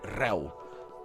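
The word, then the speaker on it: réu: It's called reu. R-E-U. But the E's got an accent, so it's eh. It's pronounced eh.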